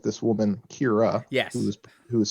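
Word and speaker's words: Kyrah: it so just like just like this woman kira yes who is spelled k-y-r-a-h k-y-r-o-s so got it okay um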